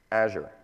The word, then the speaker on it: Azure: It's Azure. So let's all say that together. Azure. Like, as you're going to the store, think about the cloud.